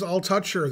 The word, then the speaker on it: Altucher: James Altucher, that's how you pronounce his name, yeah.